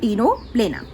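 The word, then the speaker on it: Ctenoplana: ठीक है, इसमें जो सी है वो साइलेंट है, सो प्लूरोब्रैकिया एंड टीनोप्लेना।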